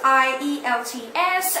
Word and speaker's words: IELTS: IELTS, I-E-L-T-S, and it is pronounced like IELTS.